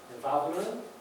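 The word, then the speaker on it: וָו: 그 다음에 6번에 바브는 W로 보통 영어를 표기하는데 이게 영어의 W가 아니라 독일어의 W라고 그러죠. 그래서 영어로는 V자처럼 발음합니다.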